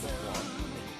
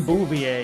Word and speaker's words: Beauvoir: I'm glad he pronounces it Jean Beauvoir. Yeah, for a while I didn't know who that dude was. Yeah, it's like, who's Gene Bouvier? Is he just like a relative of Marge Simpson?